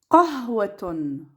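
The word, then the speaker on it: قهوة: Qah. Wa. Ton.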